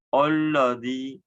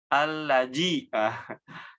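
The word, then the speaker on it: الَّذِي: Yang kedua, menukar makhraj huruf dzal. Nah, ditukar. Atau salah pengucapan huruf dzal yang dikata-kata alladzi. Nah, mungkin ditukarnya dengan huruf jim, jadinya allaji. Hati-hati ya, jangan sampai tertukar dengan huruf jin ataupun dengan huruf zai, allazi.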